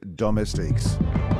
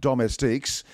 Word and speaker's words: Domestiques: Now, have you noticed, Tills and Hollywood, that I do pronounce it Domestiques? The voiceover guy who puts the sting together calls it Domestiques.